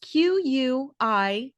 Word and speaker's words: quiescent: Now, without further ado, today's word of the day is quiescent, spelled Quiescent, pronounced quiescent.